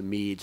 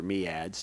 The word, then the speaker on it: MEADS: was going to end its involvement in the largest transatlantic cooperative development program, the MEADS or MEADS, depending on which cultural bias you have for pronunciation of the acronym.